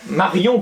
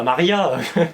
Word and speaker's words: Marion: Martin. Marion, pas Maria. Oui, bon. Oh mais non, mais il faut bien prononcer les Après, prénoms nous quand même.